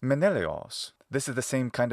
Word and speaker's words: Menelaos: And the Laos was often Leos instead, especially in compounds. Thus, this name in classical Attic is in fact Menelaos.